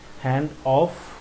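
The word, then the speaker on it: handoff: হ্যান্ড অফ না হফ আর কি উচ্চারণটা একটু খেয়াল করবেন যে হ্যান্ড অফ যে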